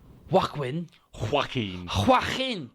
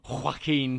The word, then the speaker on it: Joaquin: But I know that Joaquin Phoenix, I have no idea how to pronounce that fucking name. Joaquin Joaquin Phoenix.